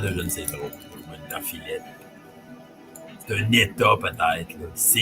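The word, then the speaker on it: Winterfylleth: Fait que si on le dit prononcé adéquatement, ça doit être Winter Fillet.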